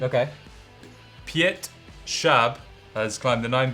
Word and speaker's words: Piotr Schab: again I took a little lesson how to pronounce his name okay Piatt sharp has climbed the nine B in Spain Piazza